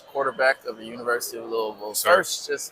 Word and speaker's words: Louisville: Um, love, you know, hearing hearing the sound of Louisville now that I know how to say it right. It's not Louisville.